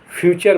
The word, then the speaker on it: future: FUTURE फ्यूचर माने भविष्य।